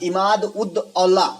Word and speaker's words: इमादुद्दौला: इमादुद्दौला का मकबरा, इमाद-उद-औला इस प्रकार से नाम है भाई। थोड़ा प्रोनाउंसिएशन जो है ना उर्दू लफ्ज में थोड़ा दिक्कत है।